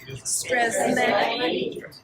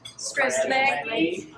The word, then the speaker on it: Strzelecki: Strzelecki, Strzelecki, Strzelecki. So, easy. Once you learn how to spell it, it's even easier.